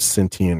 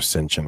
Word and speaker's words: sentient: year 2030, uh, the machines reaching what's called sentient or censient. I've heard it pronounced both ways.